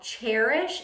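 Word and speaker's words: Chairish: look at a website called cherish and it's spelled like chair c-h-a-i-r-i-s-h um I would look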